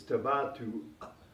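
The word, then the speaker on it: تباطؤ: It's tabatu, and you have to have that guttural stop at the end. Tabatu, difficult to pronounce.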